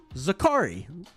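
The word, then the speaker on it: Zaccharie: Sports on playback yesterday it's pronounced zakari who knew I mean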